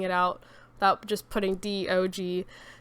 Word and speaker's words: DOG: It's just dog, but like put into like actually spelling it out without just putting DOG. So it is pronounced DOG.